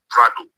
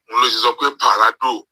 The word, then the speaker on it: Prado: So, of course, it was obvious that as a result of his lack of education, formal education, he is unable to pronounce the word Prado. So, Parado. So, then I asked them, okay, Parado, Ilonon ta Parado, money be 100 million.